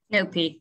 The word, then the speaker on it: Nopi: Nicole, then head chef at the acclaimed Soho restaurant, help me with the pronunciation, Nopi. Nopi, yeah.